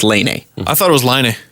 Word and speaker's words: Laine: named Patrick Laine, and it's spelled Lane, but apparently it's pronounced Laine.